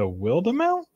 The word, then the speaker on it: Wildemount: Yeah, how do you pronounce Wildemount? It's Wildemount.